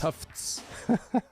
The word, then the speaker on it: Tufts: You gotta say it like you got a list. Tufts.